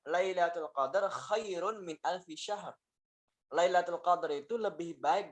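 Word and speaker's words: شهر: Bukan sahar, tapi yang benar adalah khairun min alfi syahr. Ya. Dengan shin yang tebal.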